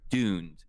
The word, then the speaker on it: Dund: a while you hear you'll hear DED and that's why that's how you're supposed to pronounce it it's DED right but most people will say dunned anyway and it's fine again heroscape names everybody